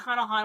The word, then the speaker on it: Hunter x Hunter: And yes, it's Hunter x Hunter. I know there's an X. You don't pronounce the X.